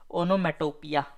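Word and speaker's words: onomatopoeia: को कहते हैं अपन ओनोमेटोपिया इसका स्पेलिंग देख लीजिए भाई पूछ सकता है ओनो मेटो पोया पोया पोएम वाला पोया ठीक है नेक्स्ट रेडंडेंट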